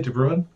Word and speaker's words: DeBrun: Marcus DeBrun. Is that I pronounce it correctly, DeBrun? Yeah, that's right. It's the Irish for brown.